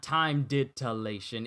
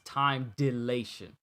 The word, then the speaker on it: time dilation: didn't i time dilation it's not time ditilation it's time delation wow i said that word wrong i said that we're wrong i'm sorry cj good old anime and comic book time time delation time delation why did